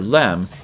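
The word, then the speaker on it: لام: do that here and it's pronounced la la la la la like that the frontal LM hardly ever the rear the uh back of your throat LM so if we draw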